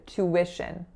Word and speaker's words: tuition: an alveolar flap credit next up the word tuition tuition so to wish refers to the cost